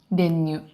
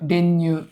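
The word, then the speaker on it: 練乳: 練乳。 Ренью? 練乳。 Ренью? ちょっと еще раз. Ренью? Ну да. Ударение ню. Ренью. Ренью.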